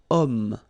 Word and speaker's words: homme: Remember, H is not pronounced. Okay, so you've got the sound of O at the beginning of this word.